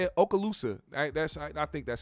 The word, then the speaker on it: Okaloosa: involving aala is that how you say it Okaloosa that's I think that's how you say it Okaloosa County sheriff's deputies in Fort Walton Beach Florida